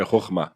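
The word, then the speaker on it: חכמה: A primeira chama, não sei se eu vou pronunciar corretamente, tá? Chama Hokma. É Rockma.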